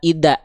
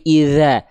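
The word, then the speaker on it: إذا: Jadi pastikan suaranya itu ngalir dza. Jangan jadi kalla ida ida tapi idza dya ngalir si suara si suara dnya itu ngalir dza dza gitu ya.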